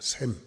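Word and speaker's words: שם: 여러분, 7장 1절에 이름이라고 하는 건 히브리어로 셈입니다. 셈. 기름이라고 하는 것은 히브리어로 쇠맨이라고 합니다. 약간 좀 뭔가 시옷 발음, 뭔가 약간 발음이 엇비슷하잖아요.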